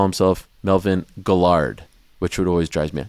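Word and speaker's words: Guillard: to say that but that's a French name another there used to be a fighter named Melvin and his name was g-u-i-l-l-a-a-r-d so that's guilt right in French double he's from New Orleans Double L is is guill but he would call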